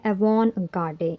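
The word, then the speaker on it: avant-garde: हमारा अगला वर्ड है एवन गाडे इसमें टी साइलेंट है और यह एक फ्रेंच वर्ड है इसे फ्रेंच आर्मी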